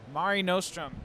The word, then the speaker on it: Mare Nostrum: Mare Nostrum.